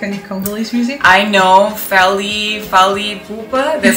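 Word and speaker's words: Fally Ipupa: I know Fally Pupa. That's how you pronounce his name? Yes, Fally Pupa.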